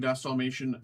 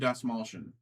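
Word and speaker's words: Dastmalchian: David Dalmation, Spice Auto as Peter Deere. Or I keep saying his name wrong. David Das Molshian. David Das Molshion. I always say David Dalmatian. Add another syllable. David Dasmolian.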